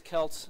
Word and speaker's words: CELT: Jean Mark uses selt I use kelt I mean people the the the actual yeah so the the actual Celtic or Celtic people you know get also the both terms are used for the pronunciation of that so I don't think